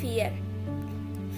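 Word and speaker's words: vier: Here it's V, but it sounds like F, 4.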